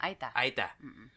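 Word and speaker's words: Aeta: Aita.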